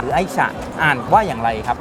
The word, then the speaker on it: Ai-Cha: ว่า อย่าง ไร ครับ ถ้า ตรง ๆ เลย ตาม ชื่อ จริง คือ ไอ้ ฉา ไอ้ ที่ แปล ว่า รัก ฉา ที่ แปล ว่า ชา รัก ใน การ ดื่ม ชา เป็น คอนเซป ของ เรา